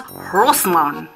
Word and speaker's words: Grossman: is Hans Grossman and that's French so the g is silent it's Hans Rosman and that would have